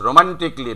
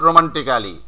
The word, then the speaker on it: romantically: ইয়েস রোমান্টিকলি, নট রোমান্টিক্যালি।